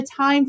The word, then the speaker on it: Thyme: How funny because time, just for the listeners benefit, is spelled how? Oh, it's t h y m e. Yes. Thank you. Love it. So there's your food reference, but time with the hym.